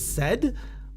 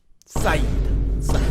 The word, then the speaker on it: SAED: And some of you say it's said, but like, I'm gonna slam you with a said. It's no, Saeed.